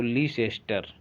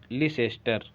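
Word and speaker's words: Leicester: Little master कहा जाता है इनको, तो लिटिल मास्टर की जगह सा लगा दीजिए, मास्टर के माँ को हटा के सा लगा दीजिए, लिटिल सास्टर। और जल्दी से पढ़ेंगे तो लीसेस्टर, टा साइलेंट कर दीजिए।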